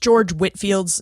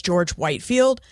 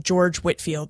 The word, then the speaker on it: George Whitefield: he pronounced his name George Whitfield so please forgive my Mis pronunciation I did try to correct that but his name is pronounced George Whitfield but spelled Whitefield now before we get